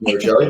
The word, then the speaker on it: Merigelli: Correct, Merigelli, the correct pronunciation.